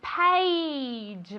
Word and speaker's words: page: Very good, page. Vale, esto es difícil de pronunciar. Se escribe con una A, pero se pronuncia como si fuera E-I.